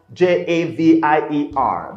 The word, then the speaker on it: Javier: guy called javier okay his name is spelt j-a-v-i-e-r they pronounced javier you know spanish okay now hadir is